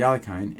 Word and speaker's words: Alekhine: You play against a guy who's playing the Alekhine, yes, that's how I pronounce it, the Alekhine, and you think, well,